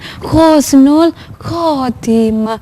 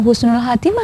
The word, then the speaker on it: Khusnul Khatimah: itu bacanya khusnul khatimah bacanya Khusnul Khatimah bukan bukan Husnul Khatimah ya Tapi bacanya khusnul